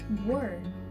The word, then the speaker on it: were: This one is tricky because the E's are tricky in this one. You really only hear the W and the R. Let's spell it and say it 3 times. W-E-R-E, were. W-E-R-E, were. W-E-R-E, were. Those E's are almost silent.